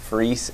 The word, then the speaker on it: Frese: my name dot Frese at uky dot edu my last name is spelled like fries you can remember that